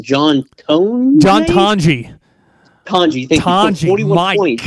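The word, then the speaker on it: Tonje: Tanji, thank you.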